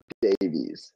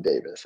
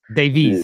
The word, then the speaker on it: Davies: know sorry is Alonso what sorry it's Alonso Davies not Davis and I get it that's how you say that's how you guys say it but it's Davies Davies okay yeah so it's weird a Canadian we